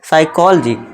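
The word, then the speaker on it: psychology: Silent मतलब sorry दोस्तों, पी को हम क्या कर देंगे, साइलेंट कर देंगे, तो उसे क्या पढ़ेंगे हम, साइकोलॉजी।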